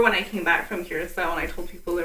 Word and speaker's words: Curaçao: And, you know, more and more people are actually pronouncing Curaçao correctly. You know, because a lot of people don't realize that the last C is soft and pronounced as an S.